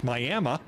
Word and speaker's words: Miami: talked to in the county seat which is pronounced Miami are concerned not so much about the president